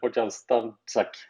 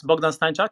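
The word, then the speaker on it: Bogdan Stańczak: You pronounce almost correctly. It's pretty complicated for English speaking, or even for the Swedes. It's Bogdan Stanczak actually, but it's very okay.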